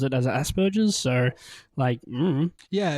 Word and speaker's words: Asperger's: And it's about how we pronounce the word, what we say is Asperger's. I think maybe that is technically wrong, Charlotte.